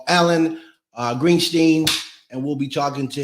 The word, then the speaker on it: Greenstein: And by the way, it's Greenstein.